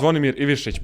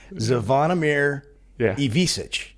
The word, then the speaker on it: Zvonimir Ivišić: Zvonimir Ivišić, but you said like correctly, Yeah. It's not like the same pronunciation, but you said it correctly.